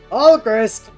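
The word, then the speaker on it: Alcryst: Alchrist, thank you, father. It's pronounced Alchris, though, like Crystal, but with the L in front.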